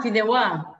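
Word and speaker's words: fideuà: The fideo there, the fideo? Am I butchering the fideo? Sorry? Fideo? What are you saying? I'm probably saying it wrong. Fideuá, no? Ah, fideuá.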